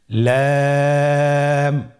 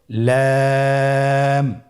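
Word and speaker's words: لام: লাম হরফটি উচ্চারণের ক্ষেত্রে অবশ্যই বারিক হবে এবং তিন আলিফ টেনে পড়তে হবে। আপনারা আমার সাথে বলুন লাম।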